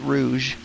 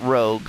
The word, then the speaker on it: Rouge: Planet Rouge. And yeah, it's pronounced Rouge, not Rogue, because if it was Rogue, the U would be after the G, not before.